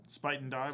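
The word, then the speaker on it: Spuyten Duyvil: don't know you maybe you know how to pronounce this better than I do uh Spit and Dyville Spite and Dville Spite and Dyville uh Sputnville Creek and the Harlem River.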